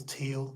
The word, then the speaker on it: Thiel: with with peter t peter thiel or teal peter teal yeah beard heel i think it's a silent h peter two um there's